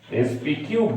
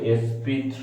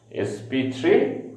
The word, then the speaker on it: sp3: sp কিউব বলবে না কিন্তু, হ্যাঁ আমরা লিখি ওই রকম sp কিউবের মতো করে, আসল উচ্চারণটা হচ্ছে sp3 hybrid orbital. sp3 hybrid orbital.